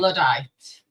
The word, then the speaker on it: Luddite: Travis, our genius, what is how do you pronounce Luddite? Luddite.